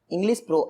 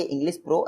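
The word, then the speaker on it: English Pro: Next question है, इंग्लिश प्रो ऐप किसके द्वारा लॉन्च किया गया है?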